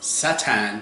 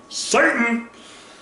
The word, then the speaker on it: seitan: have his homemade satan did i pronounce that right yes it's satan not certain or you know kind